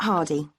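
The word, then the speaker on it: Hardie: yourself ok what's your name it's yes Hardy can you spell that please yes it's H AR di e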